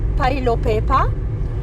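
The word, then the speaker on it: Phelophepa: They pronounce it Pelo Pepa.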